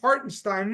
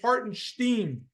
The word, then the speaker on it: Hartenstein: he referred to him as some guy named hartenstein he said he didn't even pronounce his name right it's hartenstein Stephen A Smith say his name right Wednesday night Haron Steen had 10 points and 20 boards and five